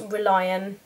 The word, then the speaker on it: Relian: it I think it's I think it's pronounced ReliOn and it's basically a